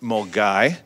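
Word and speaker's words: Milngavie: And it starts in Mulgoy, which is not at all how that's spelled, in just outside Glasgow.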